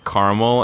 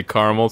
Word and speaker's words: caramel: commercial where uh Shaq Shaquille O'Neal chastised the child for using the pronunciation Carl and if if Shaquille O'Neal can speak down to someone else about the way they talk when they say caramel certainly nobody should be saying it carel I kind of want